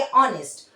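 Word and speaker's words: honest: जैसे ही आप प्रोनाउंसिएशन करेंगे ऑनेस्ट अ आ रहा है।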